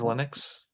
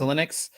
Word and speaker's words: Xilinx: so um how do you say it again in xilinx it's linux it's linux uh they basically make